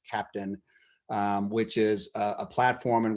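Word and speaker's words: Keptn: about is an open source project which is pronounced captain so it's ke PTN but it's pronounced captain which is a platform in which we've implemented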